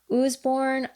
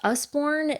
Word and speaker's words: Usborne: this is the um Osborne or I also have heard it pronounced Usborne illustrated alphabet.